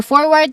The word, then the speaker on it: forward: For forward, the stressed syllable is on the first syllable for, and for response is on the second syllable.